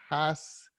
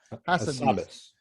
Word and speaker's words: Hassabis: I don't know how to pronounce his last name. Demis Hassabis. Hassabis.